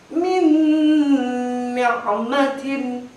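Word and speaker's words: من نعمة: Min ni'matin, bukan min nikmatin, tapi min ni'matin, lebur.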